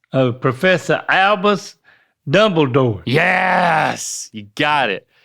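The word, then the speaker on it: Albus: can call me and it's spelled how do you say that oh no if a person is named there you go so it's alus oh Professor alus Dumbledore yes you got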